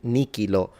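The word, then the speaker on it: nihilo: that's the same word so you can say if you want but it's usually suggested to pronounce these like a K.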